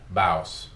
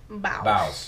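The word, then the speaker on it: Bauce: Baus. Baus. Spelled like sauce, except it's with a B.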